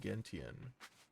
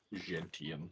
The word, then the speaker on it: gentian: I think it's pronounced with a soft G. Gentian. Gentian. Hey, is Smokey here? Oh, he's back. Because it's used in the making of liqueurs.